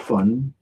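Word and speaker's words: Phun: And funk, it's spelled P. It's H-U-N. It's spelled P-H-U-N, but right. But it is fun. Fun. Like fun, like having fun.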